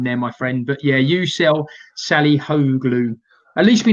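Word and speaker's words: Yucel: How do you pronounce that? How you sell?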